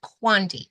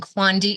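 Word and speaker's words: Kawandi: It is just a smaller version of the quilt, and it is Quandi. It is K-A, and now I'm going to spell it wrong. K-A-W-A-N-D-I. Yeah, K-A-W-A-N-D-I. That is the spelling of it.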